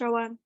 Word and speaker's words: روان: Rowan said, Rowan, am I saying your name correctly? بنطقه صح? Yes, Rawan.